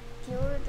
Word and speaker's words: the: 그러고 보니까 더를 아 디를 디올드 원이 더올드 원이 아 헷갈려 던지 딘지 오 할 때 오는 모음이지 그치 모음 소리 앞에 더는 더가 아니고 디라고 발음해야 돼요.